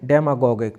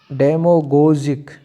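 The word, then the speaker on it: demagogic: Adjective डेमागोगिक, तो इसका adjective क्या होगा, डेमोगोगिक, और अगर इसका सही प्रोनाउंसिएशन, हाँ, इसका अगर सही प्रोनाउंसिएशन किया जाए तो वो क्या होगा, डेमोगोजिक, इसका सही प्रोनाउंसिएशन किया जाए तो वो क्या होगा, डेमोगोजिक, और हम इसको डेमागोगिक भी बोल सकते हैं।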